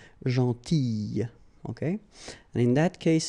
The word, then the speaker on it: gentille: Alright, same thing here, gentille. Okay, so remember to pronounce this I, gentille.